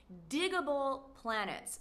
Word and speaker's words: Digable Planets: And finally, this 90s classic alternative hip-hop group is Digable Planets. Digable because to dig something is to be into it, or to like it, or to be interested in it. So, Digable Planets.